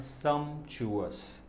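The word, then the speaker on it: sumptuous: फिट बैठेगा, सम्चुअस, option number A सम्चुअस, इसका उच्चारण है सम्चुअस, ऑप्शन नंबर बी नहीं होगा लेकिन उसका मीनिंग जान लीजिए, पिक्यूलियर, पिक्यूलियर का मतलब होता है बहुत ही असाधारण, अनोखा, विचित्र।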